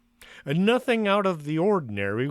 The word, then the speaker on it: Accra: senior high school in akra i believe that's how it's pronounced accra nothing out of the